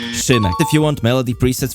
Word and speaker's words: szvmek: Oh, also, you pronounce my name as szvmek, not Freebird, not szvmek, not Smithy, it's szvmek.